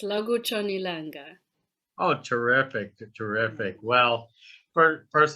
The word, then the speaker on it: Lakutshon' Ilanga: Lakutshon Ilanga. Yeah, that was pretty good. Yeah, it's Lakutshon Ilanga.